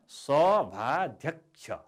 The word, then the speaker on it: सभाध्यक्ष: सभाध्यक्ष, यसको उच्चारण सभाध्यक्ष। सभाध्यक्ष, क्षको उच्चारण हामी गर्दैनौँ, हामी क्षलाई क्ष भनेर उच्चारण गर्छौँ। त्यस कारणले सभाध्यक्ष भन्दा कको पनि उच्चारण भएको छ, सभाध्यक्ष।